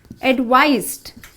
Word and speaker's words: advise: Here the advice with an SE has the Z sound. So we say advise.